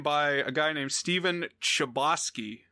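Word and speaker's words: Chbosky: a guy named stephen chabotsky i'm going to assume that that's how you say it like proboscis uh but it's c-h-b-o-s-k-y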